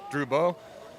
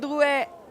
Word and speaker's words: Drouet: This is Troubeau. Drouet, of course. Horrible French pronunciation.